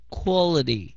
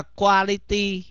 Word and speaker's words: quality: nhớ nhớ phát âm cái từ này nhá quality đừng có đọc là quality nh đứa nào mái mốt mà mở mồm